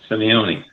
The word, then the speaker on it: Simeone: Jay, you got to say your name so I can hear it and pronounce it many times over. Simeone.